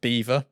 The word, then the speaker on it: Belvoir: There's a place in the UK called Belvoir Street and Belvoir Castle, but it's pronounced Beaver because we're English and we're weird.